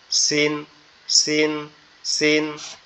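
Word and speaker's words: س: ঝাটা উচ্চারণ করলাম না জিহ্বার আগা নিচের দুই দাঁতের আগার সঙ্গে এখান থেকে উচ্চারণ হবে সিন সিন সিন আর একটা হচ্ছে কি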